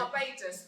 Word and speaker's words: Barbados: It's Barbados, not Barbados. It's Barbados. Ladies and gentlemen, first of all, let me introduce you to Claire. Because this is... There's Claire. How do you say it, Claire? It's Barbados. It's not Barbados. It's Barbados. Barbados.